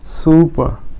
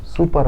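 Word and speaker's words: super: অনুচ্চারিত থাকবে কি হবে সুপার সুপা সুপার না সুপা আরটা অনুসারিত হবে সুপার মানে চমৎকার তারপরে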